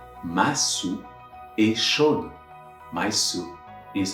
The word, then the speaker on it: soupe: This time, there is an E after the P on the second word. So I'm going to pronounce that P, and it's going to be ma soupe.